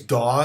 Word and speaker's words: DAW: to this term so i think it's daw is how people pronounce that i mean how else would you pronounce that but that stands for